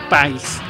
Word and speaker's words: PAIS: En 1989 se formó el PAIS, porque se pronunciaba así, PAIS, que reunía a socialistas, comunistas y otros grupos de izquierda que seguían prohibidos por la dictadura.